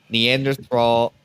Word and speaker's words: Neanderthal: a hairy man who looked caveman like with neanderthal neanderthal neanderthal neanderthal Neanderthal yeah Neanderthal featured is silent and but he was uh as big